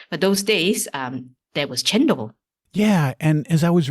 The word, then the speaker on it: cendol: Speaking of desserts and sweets, I read about something called, I think it's pronounced cendol, Cendol. Are you familiar with chendol.